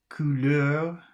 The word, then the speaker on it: couleur: Number 5, couleur, that should be pronounced.